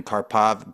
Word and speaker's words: Karpov: Pay-Per-Call Adam Young, as well as the industry legend Harrison Gevirtz, and our special guest today, Karpov, Business Development Manager at HilltopAds, a leading ad network for online products, brands, website owners, bloggers, and mobile app developers.